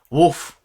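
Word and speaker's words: Wulf: Wolf, who, as you may recall, is spelled W-U-L-F.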